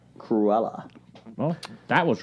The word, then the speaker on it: Cruella: How was that pronounced? Cruella.